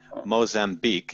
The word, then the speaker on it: Mozambique: Mozambique is how it's pronounced.